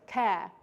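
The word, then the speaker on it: Kerr: what's her name Jessica care right it rhymes with care bear um but it's spelled like ker so Jessica ker said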